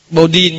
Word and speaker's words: Bodin: Ông này là người Pháp, nó hơi phát âm hơi ngang ngang qua tiếng Pháp một chút. Thế vừa phát âm tiếng Anh thì nó khác. Bodin, nhưng mà tại vì ông là người Pháp, âm Bodin, Maten, vân vân.